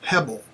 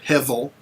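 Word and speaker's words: הֶבֶל: that is the word Hebel or Hevel, depending on how you pronounce your Hebrew. The B is oftentimes by many people pronounced as a V, okay? So Hevel is the way I would pronounce it.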